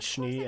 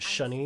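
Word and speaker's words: Schnee: You really don't care if we I always find it weird how some characters pronounce it Shni and others pronounce it Shunny.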